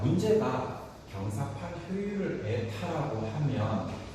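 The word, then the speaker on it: η: 자, 문제가 경사 효율을 에타라고 하면 요걸 그리스인데 에타라고 읽어 뭐처럼 생긴 놈 기호야? N처럼 읽지. 그래서 그리스로 이걸 에타라고 해.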